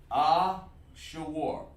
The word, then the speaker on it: Ashur: This is how it's pronounced. Ashur.